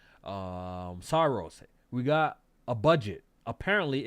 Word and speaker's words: Saros: That's how you pronounce it, right? Oh, Saros, yes.